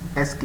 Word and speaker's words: ASCII: First of ऑल ASCII, इट is most common coding system, pronounce SK, इसको बोलते हैं SK, ठीक है।